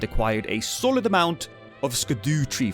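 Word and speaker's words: Scadutree: a solid amount of sco tree fragments yes that's how you should pronounce that which made him super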